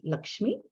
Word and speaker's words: Lakshmi: that is okay well i'm going to pronounce it the indian way which is lakshmi okay look me is